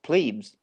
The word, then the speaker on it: plebe: So yes, plebes. In the U.S., plebes. You're always a plebe was your first year, but it's you're in the military. That's how it's pronounced.